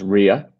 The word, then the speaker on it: Roya: Great question, and it's pronounced Ria, who's Ria, okay.